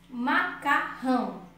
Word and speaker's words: macarrão: Já na palavra macarrão, macarrão, eu tenho 8 letras, porém 7 fonemas. Por quê? Porque os dois R's aí pronunciam com um único som, tá?